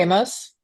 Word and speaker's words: Amos: Tori Amos?